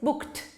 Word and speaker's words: booked: Because of this k sound, it's booked. Booked. It ends with a t.